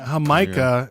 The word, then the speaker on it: jamaica: like with everybody there hamikah is how you say it in Spanish that's Jamaica what do